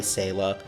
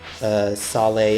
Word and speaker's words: Saleh: I keep wanting, I know it's pronounced Saleh, but I keep wanting to say Selah because of the way it's spelled.